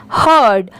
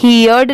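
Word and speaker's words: heard: इसे हम पढ़ेंगे morning H ई ही हर्ड इसे यर्ड नहीं पढ़ेंगे इसे क्या पढ़ेंगे हर्ड एच ई ए आर डी इसकी प्रोनंसिएशन है हर्ड आप इसकी स्पेलिंग जरूर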